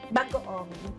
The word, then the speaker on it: bagoong: And how do you pronounce this one? Bagoong. Bagaong.